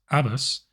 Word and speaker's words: ABUS: Hey party people, Techno here, and today we are taking a look at an Abus, or what I suspect is more properly pronounced Abus, 64ti/50 padlock in their Titalium series.